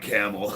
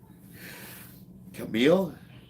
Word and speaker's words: Camille: Not Camel. I want to make sure I'm pronouncing your name right. Camille. Camille.